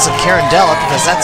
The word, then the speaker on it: Carondelet: Carondelet I pronounce it carindella because that's how it's spelled carondelette pronounce how it's spelled whatever open things up